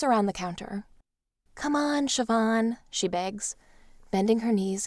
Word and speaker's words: Siobhan: to say my name it should be spelled s h i v a n or something but that's what Irish names will get you he'd probably recognize me